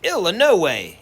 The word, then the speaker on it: Illinois: the illinois state line he pronounced illinois ill in no way exactly the way everyone in bybanks kentucky pronounced it and hearing that ill